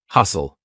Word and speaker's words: hustle: saying listen silent T hustle st tle e lots of times words with stle e will have a silent T hustle or ft n silent